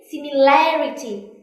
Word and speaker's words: similarity: longer education and here similarity is unfair not similar when it is a adjective similar so it is on here similar but when it comes to a noun similarity so i want you